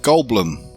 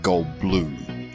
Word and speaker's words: Goldblum: He says it's pronounced Bloom. Jeff Goldblum.